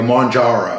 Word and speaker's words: Mounjaro: Mounjaro, I think, is how you say it properly.